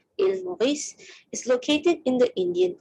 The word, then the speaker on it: Île Maurice: So the island of Mauritius, or as they pronounce it, Île Maurice, is located in the Indian Ocean.